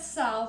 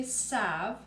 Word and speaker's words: salve: basic Salve recipe now I said cell with the l and a lot of people say Sav as a silent L and mostly in the United States people do leave the L out but in a lot of other parts of the world people do actually include the L so either way you